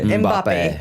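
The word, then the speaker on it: Mbappé: Mbappe.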